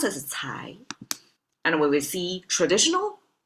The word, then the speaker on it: 才: Pronounce as cai.